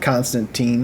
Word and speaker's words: Constantine: a blank issue of Constantine hellblazer Constantine I'm sorry hellblazer uh no you said it right the first time don't worry about it